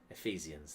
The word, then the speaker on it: Ephesians: I guess it's a soft PH, like an F. Ephesians.